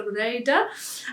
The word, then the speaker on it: Reeta: Paulina, who's Finnish, has been telling me the proper way to pronounce name patterns, and it's the Reeta, and that's how that's